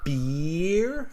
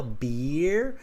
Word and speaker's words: beer: your mouth so um beer i pull on my mouth like a smile beer and then with the